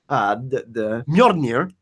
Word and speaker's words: Mjolnir: to be really because Mjolnir, the Mjolnir, that's how you say it.